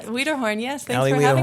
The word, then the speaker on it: Weaderhorn: But her daughter, Allie Weaderhorn. Did I pronounce that right? Weaderhorn, yes.